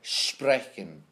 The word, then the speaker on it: sprechen: Now S before any consonant. Now a consonant is anything that's not A, E, I, O, U, is pronounced like an SH sound, a sh sound. So like sprechen, sprechen.